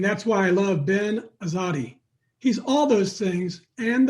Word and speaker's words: Azadi: got in the air is that the correct pronunciation azadi you said it right good job right on